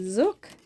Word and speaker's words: Zook: And they're called Zook, and that is how you pronounce it.